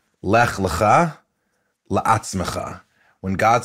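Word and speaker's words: לך לך: Lech lecha.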